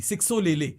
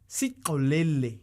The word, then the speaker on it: Sixolele: अगर X वाला है, जिसका एक क्रिकेटर है जिसका नाम है SIXOLELE, सिक्सो ले ले, सिक्सो ले ले। उसका जो उसकी प्रोनाउंसिएशन है वो है सिकोलेले। सिक वो सिक ले ले।